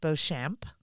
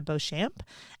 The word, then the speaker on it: Beauchamp: look up Sarah and your last name is pronounced bamp right y so b a u c h m p Sarah bamp and you can look